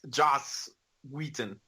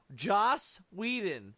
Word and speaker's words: Joss Whedon: the one little is a proper way to pronounce Josh Wheaton we didn't like like that no like that Joss Whedon they say it with me Joss oh you